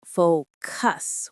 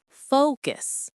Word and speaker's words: focus: Many learners pronounce it like focus with equal stress. But in English, the stress is on the first syllable. Focus.